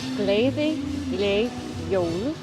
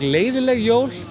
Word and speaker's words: Gleðileg jól: Gleðileg jól. Sounds actually like leiðileg jól. If you say it really quickly, you can actually. It sounds like that.